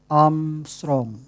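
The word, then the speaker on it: ångström: Nah, ini dibacanya bukan A derajat, tapi dibacanya adalah Armstrong. Diambil dari astronot Neil Armstrong.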